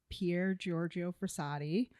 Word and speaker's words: Pier Giorgio Frassati: So, this is blessed Pierre Giorgio Frisadi. Hopefully, I pronounced that right.